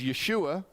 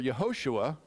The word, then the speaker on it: Yeshua: in Hebrew we're getting there so it is Yeshua or yahoshua which means God is our Salvation the Greek pronounced it Yus and the English today we